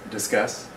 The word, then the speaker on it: Disqus: spelled d is q us and it is pronounced discuss